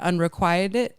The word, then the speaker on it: unrequited: Is that the right way? Yeah, I think unrequited love. Yes, I think that's the right way. No, I was unrequitted. Oh, unrequited love. That sounds British. Unrequited. I feel like that's how they say it there. They're like, "Oh, we say unrequitted."